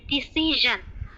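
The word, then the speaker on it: decision: থেকে জান, তো এই যে জানটাই বলতে হবে ডিসিশন।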